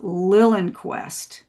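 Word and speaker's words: Liljenquist: It's called Lillenquest. Oh, Lillenquest. Yeah, it's like L I L J E N Q U I S T. So, it's spelled not quite phonetically, but um but he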